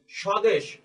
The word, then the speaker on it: স্বদেশ: নিয়মটি খুবই সহজ যে শব্দের শুরুতে ব্যঞ্জনের সাথে যদি ব ফলা যুক্ত থাকে তবে সে ব ফলার উচ্চারণ হয় না কিন্তু কিন্তু তার একটি প্রভাব বা ইম্প্যাক্ট থাকে সেটি হচ্ছে সেই ব্যঞ্জন বর্ণের উচ্চারণের জোর দেয়া হয় বা শ্বাসাঘাত থাকে আমরা যদি আমাদের পরবর্তী